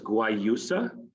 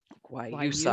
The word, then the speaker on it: guayusa: excellent so uh the the word there is guayusa why you so i'm going to practice uh it does have